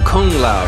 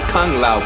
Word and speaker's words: Kung Lao: Pronounce it right. This is his name. Respect that man. Kung Lao. Not Kung Lao. Kung Lao. With the G. Don't leave out the G.